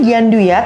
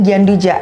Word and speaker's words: gianduja: pistachio dengan karamel flower Caramel ini bacanya gianduya tapi banyak juga orang dengarnya itu gianduja jadi eh sama Ya kurang lebih cara pronunciation aja beda satu yang English Mungkin orang kebanyakan bilangnya gianduja tapi kalau di French kita bilinya gianduya kurang lebih seperti itu lalu yang Blue yang biru